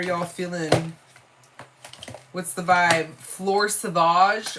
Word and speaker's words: Fleur Sauvage: Fleur Sauvage or Fleur Savage? Fleur Sauvage. Fleur Sauvage. Because it's spelled Sauvage.